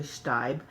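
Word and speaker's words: Staib: ship chef Walker stabe I mispronounced it stay but it's actually Stipe and my friends Andy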